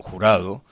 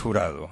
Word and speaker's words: Jurado: And you're going to see our Vivienne Jurado, or Jurado. How do, the Americans don't pronounce Jurado, am I right? They say Jurado. Jurados. Vivienne, yes, Jurado. Vivienne Jurado. Spanish. Jurado in English.